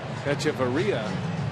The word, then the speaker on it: Hechavarria: Not to be confused with Adeiny Echeverria, who is the Marlins shortstop and has an H, which is silent, at the front of his name.